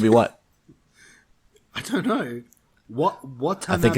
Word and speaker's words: Watanabe: Watanabe? I think it's Watanabe. I don't know how to pronounce it. All right. Wasabi. As Dr. Ishiro. Yeah, it's Watanabe.